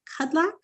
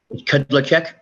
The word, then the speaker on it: Kudlacek: Before we get too far in depth, is it Kudlak? How do you say your name, sir? Kudlacek. Kudlacek.